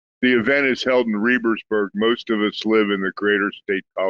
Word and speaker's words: Rebersburg: And is it Rebsburg or Rebersburg? How do you pronounce that? The event is held in Rebersburg.